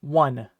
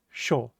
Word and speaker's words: 緒: The next kanji here is pronounced sho. But in other kanji compounds, you may sometimes hear it pronounced o, so it can be sho or o.